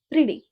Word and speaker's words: pretty: Okay, but we say pretty, pretty. In American we say pretty, pretty, pretty. T sound is soft D. Okay, we have to pronounce T like soft D, so it's pretty, pretty.